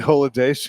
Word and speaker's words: Oladejo: And I think Odebayo, how do you say his name? Femi Odebayo? Femi Oladejo. Oladejo, that guy.